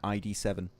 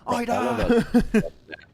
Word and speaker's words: Ida: call him back then ID7. Yep. And people were like, Maxman, you said it wrong. It's Ida.